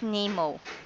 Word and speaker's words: NEMO: DAV and the California Maritime University are developing an autonomous boat called N3MO, or rather pronounced NEMO.